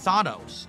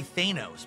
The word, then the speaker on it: Thanos: People used to say Thanos back in the day. No, Everyone said it's just Thanos. But now everyone says Thanos. Thanos because they said that the way in the movie, so I guess that's the proper pronunciation.